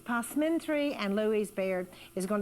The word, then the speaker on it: passementerie: Looks like pessimentary actually, but it's positry.